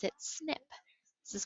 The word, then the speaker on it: SNP: abbreviated snp for single nucleotide polymorphism and they pronounce it snip this is called a snip so when scientists